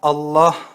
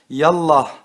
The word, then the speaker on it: Allah: ya kerimu diye okunur fakat Allah Celle celalühu lafzının başına ya Nida harfi gelince ya Allah diye okunur Yallah diye okunmaz Bu yüzden Allah Celle